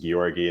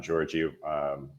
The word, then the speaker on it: Georgii: based in singapore um the name is pronounced giorgi and not georgie like with the soft g it's a tough one